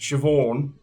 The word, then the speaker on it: Siobhan: from Siobhan uh but like to them it's pronounced shioon so then shioon becomes VY and then her